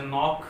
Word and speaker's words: knock: और आप जैसे नॉक वर्ड ले सकते हैं, KNOCK, नॉक।